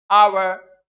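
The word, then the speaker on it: hour: Hair, happy, ज्यादातर में एच का प्रोनाउंसिएशन होगा। जहां नहीं होगा वहां हमने आपको ये वर्ड्स लिखा दिए हैं, बता दिए, आवर, ऑनेस्ट, ऑनर, एयर।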